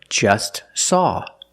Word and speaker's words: just saw: Or just saw. We see the T is between consonants, so don't pronounce it. It's silent.